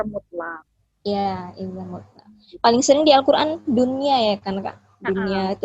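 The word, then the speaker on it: دنيا: Paling sering di Al-Qur'an dunya ya kan Kak? Dunya itu agak banyak tuh kita jumpai. Jadi bukan duya ya bacanya, bukan duya gitu.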